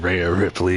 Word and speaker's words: Rhea Ripley: Rhea Ripley is the way that you pronounce it, and that's just how it is.